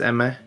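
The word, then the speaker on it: Aimer: You pronounce it Eimer, but it's Eme.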